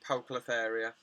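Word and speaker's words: Poecilotheria: She pronounces it Poeclotheria.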